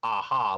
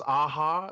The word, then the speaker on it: Aja: heard David Aja's name pronounced as Aha, like the band Aha, like Take On Me. Okay. So we've been erring on the side of caution and saying Aja, but I guess it is Aha.